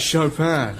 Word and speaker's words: Chopin: You have to say it like that, Chopin.